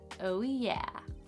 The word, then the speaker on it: OWIA: Only when it's awesome, also known as OWIA, pronounced oh yeah.